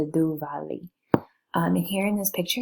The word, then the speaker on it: Diwali: The Diwali comes from original Sanskrit, Deepa meaning lamp and Vali meaning row, and it's pronounced the Duvali.